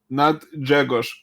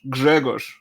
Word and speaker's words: Grzegorz: not Grzegorz. Grzegorz. There's a G in the front. Okay, Grzegorz. No, not Grzegorz. Grzegorz. Grzegorz. Grzegorz.